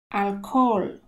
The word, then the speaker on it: alcohol: no r ma na alkohol alkohol tutaj ha jest niemy i jeszcze zanika nam o alkohol alkohol oto fragment